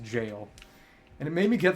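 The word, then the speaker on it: Gaol: G o even though G AOL is just an archaic British spelling of jail and it's pronounced jail and it made me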